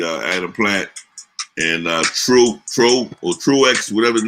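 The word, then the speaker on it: Truax: adam plant and uh true true or truex whatever the name is truex no you don't pronounce the aux pro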